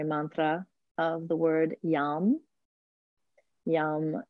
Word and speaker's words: Yam: Yam is often pronounced with a zh sound, so ja. The A is very long, and the M is long as well, like we have in the word Om at the end.